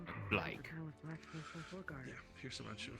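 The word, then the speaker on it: Blaique: The U is silent. Sure. Yeah. Wait, what? At hand. Yeah. You have a U in your name? Like How the you fuck do you sound. have... Yeah. B-L-A-I-Q-U-E. Blake.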